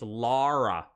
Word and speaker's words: Lara: that was weird it it's pronounced like that I just put it in the chat L A R A it's laa so you know what